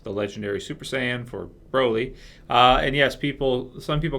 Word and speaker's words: Broly: We're going to be talking about who would win between the Legendary Super Saiyan Broly versus Goku at Super Saiyan Level 3.